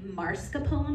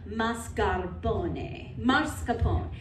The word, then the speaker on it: mascarpone: have had I want I always want to say marscapone but technically the r is in the second syllable so mascarpone how many of you have